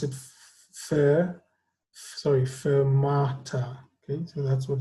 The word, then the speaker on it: fermata: Okay, we pronounce it fermata.